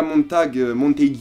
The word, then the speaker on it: Montague: et la relation entre Julia Montague, si je me permets de la prononcer à l'anglaise, qui est donc la